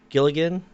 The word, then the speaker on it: Giligin: Is it Giligin?